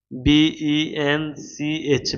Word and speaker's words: bench: কিন্তু ভাইয়া, কিন্তু সবাই লেখো কিন্তু, মিস্টার বাবর, কিন্তু সিএচ এর উচ্চারণ যদি, সিএচ এর উচ্চারণ যদি ক এর মতো হয়, সিএচ এর উচ্চারণ যদি ক এর মতো হয়, যেমন বেঞ্চ, খেয়াল করো সবাই, BENCH, বেঞ্চ। এখানে কি সিএচ এর উচ্চারণ ক এর মতো হয়েছে? না, এখানে সিএচ এর উচ্চারণ চ এর মতো হয়েছে।